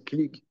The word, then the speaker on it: klug: Comme disait le Chafetz Chaim, un juif, il doit être gut, froum und klug. Comprenez? Moi, je me suis arrêté au Charoset sur la porte. Klug en prononciation juive polonaise, c'est klik.